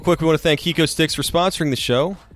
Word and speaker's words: HecoStix: Real quick, we want to thank Hiko Sticks for sponsoring the show. It's spelled HECOSTIX.